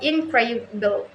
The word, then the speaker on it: incredible: In word incredible, for example, the primary stress falls on the second syllable incredible.